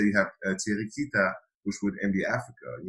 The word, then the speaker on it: Thierry Kita: helps you out a lot, but I saw Thierry Kita.